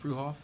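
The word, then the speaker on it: Fruehauf: Consider, discuss, and take appropriate action to donate RBU051, a 1985, you say pronounce that fruhoff. Yes, sir. Fuhoff water tanker trailer to the Mountain Home Volunteer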